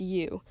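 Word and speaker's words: 鱼: five and ten courses the Chinese word for fish is you which sounds like the word for plenty so a whole fish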